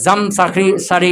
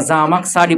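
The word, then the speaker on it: الزمخشري: করো জামাকসারি একটা নাম অনেক লম্বা না এখন জামরি সারি পড়বে না জামাকসারি পড়বে হালকা না দিলে বুঝা যাবে কি সঠিক নামটা উচ্চারণ হবে কি নামটা অনেক বড় না জামাকসারি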